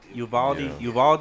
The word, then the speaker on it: Uvalde: Uvalde, yeah.